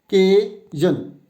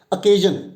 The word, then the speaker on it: occasion: Now the pronunciation for this particular word is occasion. Now you have to give stress on K-E-I, shun, zan. Occasion. It's not occasion, it's occasion, and it can be used as both noun as well as verb.